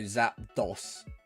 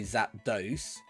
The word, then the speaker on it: Zapdos: ones they are well I suppose you got that dose that dos and so like dos like Dawson about um so Zapdos and then some people say Zapdos um I know he's that one people have said I've heard people say both of them I don't know I think mine it goes It Whatever my brain says first technically I say both is that those sat